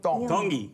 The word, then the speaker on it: Tongi: Iam Tongi. Tongi. You pronounce the T's like a D in the Tongan culture.